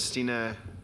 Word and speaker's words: Stina: you for the introduction stina was just um the right pronunciation for my name thank you um so